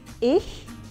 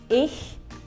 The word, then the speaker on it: ich: can you try that ich haissa so these two letters here are pronounced bit like the ch in the scottish word for lake loch so ich hello my name is